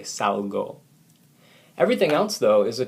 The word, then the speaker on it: salgo: Salo doesn't work. Okay, pronunciation here tells us that we need to say salgo.